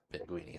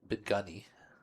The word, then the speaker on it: Beni: It's Ben Beni. Beni, not Benui.